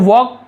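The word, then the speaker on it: walk: देखिए आप ध्यान देंगे, वॉक पढ़ रहा हूँ मैं, एल लिखा हुआ, वॉल का नहीं पढ़ेंगे, वॉक, यहाँ पे एल साइलेंट होता है, मैंने बताया ना, साइलेंट लेटर देखोगे बहुत कुछ मिलेगा आपको, केवल आपको वॉक पढ़ना है, WAK, इस प्रकार से वॉक पढ़ना है, एल को नहीं पढ़ना है, लेकिन लिखते समय आपको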